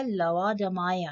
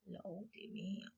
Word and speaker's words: Laodamia: यहाँ पे मैं बता दूं कि ये जो प्रोनाउंसिएशन है ये एग्जैक्ट लेओडामाया है, अदरवाइज इंडियंस में हम लोग लेओडमिया कहते हैं, अदरवाइज राइट प्रोनाउंसिएशन इसका लवाडमाया है, बट इंडियंस में लोडेमिया कहते हैं, लोडेमिया। अगला क्वेश्चन है, The sweetest